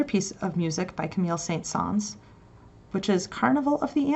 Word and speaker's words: Saint-Saëns: It's pronounced Saint-Saëns with a hint of S at the end.